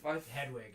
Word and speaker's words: Hedwig: It's Hedwig.